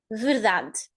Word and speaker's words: verdade: The same happens here with that You don't hear it. You just hear the sound of the consonant. Verdade. And again, the highest syllable is the one in the middle. Da. Da. So you hear this clearly. Da. The vowel in the highest syllable is the one that you are going to hear clearly, not the others.